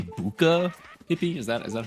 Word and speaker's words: Bucha: How do you say Do you say Bucha, Hippie?